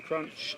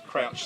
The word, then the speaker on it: Crouch: Jason Crunch and It's Crouch, sorry. not Crunch.